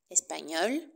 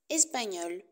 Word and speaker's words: espagnol: par exemple espagnol espagnol attention c'est la même prononciation au masculin et au féminin espagnol espagnol la terminaison a n